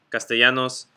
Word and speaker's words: Castellanos: a y sound quesadilla castellanos very different things although i do like quesadillas but very different things but the double l makes a y sound that's how you can